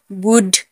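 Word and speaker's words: would: कुड, COULD, कुड, यहाँ पर डी से पहले एल है तो एल साइलेंट होगा। कुड, वुड, शुड।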